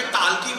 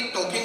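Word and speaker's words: talking: वॉकिंग करते करते टाल्किंग करेंगे। मैंने कहा शंभू वॉकिंग नहीं वॉकिंग होता है, टाल्किंग नहीं टॉकिंग होता है, इसमें एल साइलेंट आता है।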